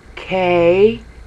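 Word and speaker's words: καί: K-A-I. And ancient languages always had short vowels first. So it's A-E. So it's K-A-E. Kai. Alright? Now, Kai is the first syllable in Kaiser.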